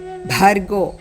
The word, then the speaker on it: Bhargo: O Bhur Bhuvasvaha Tat Savitur Varenyam Bhargo. Stress on Bhargo.